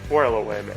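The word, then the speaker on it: 4-LOM: No, it's 4LOM, and the reason why is you say things phonetically, like C3PO, so that people know how it's spelled.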